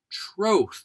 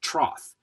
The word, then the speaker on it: troth: Troth. I can't even count the number of times I've heard this pronounced trroth. People, it's not a wooden frame filled with water for horses to drink from.